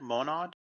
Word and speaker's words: Monad: Monad? Monad.